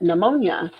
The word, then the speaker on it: pneumonia: and he goes but that word starts with p and you didn't say p and she said that's right that p is silent so it was a